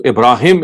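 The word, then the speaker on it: Ibrahim: don't find that ha so ibraim is the is the pronunciation herea he said in so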